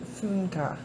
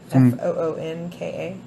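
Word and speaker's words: Funke: Gary said it's pronounced Funka. Foonka. Oh, okay. Funka. Cornelia Funka.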